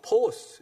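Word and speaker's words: φῶς: 그래서 이 구약에서는 이 하나님의 임재를 나타내는 그 히브리어가 셰키나의 영광이라고 그러는데, 이게 이제 헬라 말로는 포스, 이렇게 포스, 누가 포스 있다고 그러잖아요. 발음 비슷해요.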